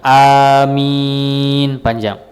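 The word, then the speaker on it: آمين: Tapi kalau di kita bacanya adalah amin, a-nya panjang, min-nya juga panjang.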